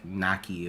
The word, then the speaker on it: Nakia: you saying that nokia it's just like nakia but they pronounced it like nike because the emphasis on that first syllable yeah she she got